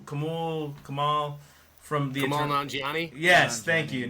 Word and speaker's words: Nanjiani: Kamal, how do you pronounce the guy's name from Eternal? Kamal from the Kamal Eternal. Nanjiani? Yes, thank you, Nanjiani.